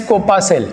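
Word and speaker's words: corpuscle: Newton साहब ने कहा कोपासेल, COR PUSCLE, प्रोनाउंस एज कोपासेल।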